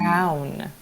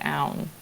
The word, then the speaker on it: Aun: Aun. Oh, it's Aun, like noun without the N.